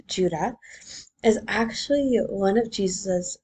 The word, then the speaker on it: Jude: The writer of Jude, pronounced Judah, is actually one of Jesus' four brothers.